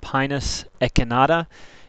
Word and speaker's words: Pinus echinata: short leaf pine scientific name is pronounced pinus echinata it's a member of the pinier family and